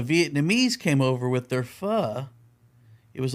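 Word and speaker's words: Phở: And she said the pronoun the proper pronunciation is fa. She said the pronogra Is that what you were going to say? The proper pronunciation of pho is actually fa.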